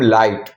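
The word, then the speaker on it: light: जब किसी वर्ड में आई के बाद जी एच टी आए तो आई को हम आई पढ़ते हैं और जी एच साइलेंट रहता है। ओके? ये एक नया रूल है दोस्तों कि जी एच जो है वो साइलेंट होता है। कैसे? जैसे कि एल आई जी एच T. Okay? इसको बोलते हैं हम लाइट। तो ये जो जी और एच है ना इसका हम प्रोनाउंसिएशन नहीं करेंगे।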